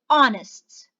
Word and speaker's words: honest: before it and why and the silence and i'm going to start pronouncing from the o sound so i say honor i say our i say honest so the sound is